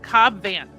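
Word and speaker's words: Cobb Vanth: So, the answer is Cobb Van.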